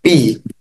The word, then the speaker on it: pi: yang di lingkaran ini ini tulisannya adalah Pi atau bacanya Pi kalian jangan sampai tertukar kita bisa gunakan V